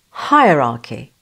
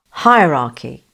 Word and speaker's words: hierarchy: B is correct because, unlike the US pronunciation, in British English we do not pronounce the R. Hierarchy.